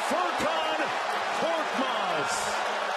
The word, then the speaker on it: Furkan Korkmaz: Furkan Korkmaz is how you say it.